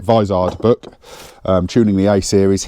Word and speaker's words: Vizard: head, get yourself the David Vizard, or Vizard, I think he pronounces it Vizard book, Tuning the A series.